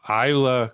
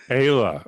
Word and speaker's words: Eyla: And today, and I'm going to try to get the name correctly pronounced. That's always a challenge. But a friend who I've known for a while, Eyla Cuenca. Is that close? Eyla Cuenca. Ayla.